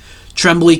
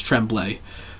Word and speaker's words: Tremblay: Tremblay continued, or Tremblay, I was saying it wrong, it's Tremblay.